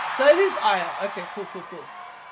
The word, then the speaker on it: Aiah: SO THIS AIAH.